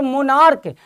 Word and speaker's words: monarch: Pronunciation च है और मोनार्क, लेकिन यहां CH का प्रोनाउंसिएशन क है, यहां स्टमक प्रोनाउंसिएशन क है, तो यहां पर उत्तर अलग होगा।